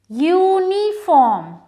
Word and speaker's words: uniform: Because the sound of U is Y and U.